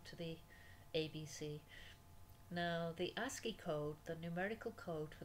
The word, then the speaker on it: ASCII: Now Unicode character set includes the ASCII code character set. A-S-C-I-I is pronounced ASCII.